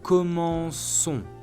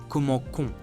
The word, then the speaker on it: commençons: If we conjugate it at nous, which means we, present tense, it gives nous commençons with C-O-N-S at the end. However, if we simply leave it like this, we don't hear the sound S anymore, commençons, which is confusing.